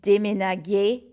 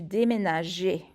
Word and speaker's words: déménageais: So if this G were followed by an A, it would make a hard G sound, and it would be tu déménaguer, and that would just sound gross. So we add this E, and that makes it a soft G. So it's tu déménageais.